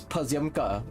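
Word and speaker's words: Pozëmka: It's Persiumka. It's also P-O, but it's pronounced Per, like P-A.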